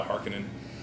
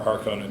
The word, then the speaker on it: Harkonnen: They bear some resemblance to the Harkonnen, or Harkonnen, depending on how you want to pronounce it, from the Dune series.